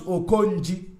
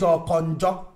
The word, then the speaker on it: Okonji: He cannot even pronounce Okonji. He says Okonjo. Okonjo. Even if he's speaking Abakeleke language, You will still bear with me that Abakeleke can pronounce Okonji, not Okonjo.